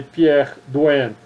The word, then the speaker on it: Pierre Duhem: Quem foi Pierre Duhem? Se escreve Pierre, D-U-H-E-M.